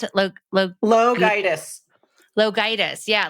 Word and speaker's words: LoGiudice: Her last name, it sounds like how did you pronounce it? LoGiudice.